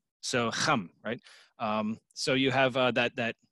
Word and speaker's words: Ham: region where this word originated from it's actually pronounced hum so hum so you have that that that guttural CH